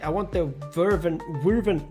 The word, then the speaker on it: Wyvern: All right, I want the Wyvern. How do you say that? Wyvern.